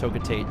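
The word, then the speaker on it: Hocotate: I think it's named after a street or something in Japan, but it's probably supposed to be pronounced Hokotate, so it rhymes.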